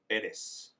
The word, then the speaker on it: Perez: I don't know why I'm Roxanne Perez.